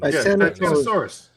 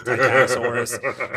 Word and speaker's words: Titanosaurus: Then they go and they get the sample from I'm gonna say the name wrong. The Titan. How the fuck do you say the name? Titanosaurus.